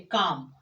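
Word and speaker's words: calm: Third rule कि जब किसी भी वर्ड में के डी एम एफ से पहले, किसी भी वर्ड में के डी एम एफ से पहले एल आ जाए तो फिर वो ये एल प्रोनाउंस नहीं किया जाएगा।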